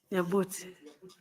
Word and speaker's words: Nyabuti: Nyabuti. Yeah, have I pronounced it properly? Nyabuti.